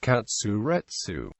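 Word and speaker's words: カツレツ: The Japanese pronunciation of cutlet is katsuretsu.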